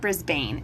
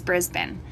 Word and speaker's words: Brisbane: are you close to brisbane i said that right didn't i it's not brisbane it's brisbane when i was there and